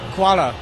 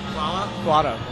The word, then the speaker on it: hvala: Kuala. Hvala?